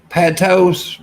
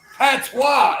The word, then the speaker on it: Patois: Patos.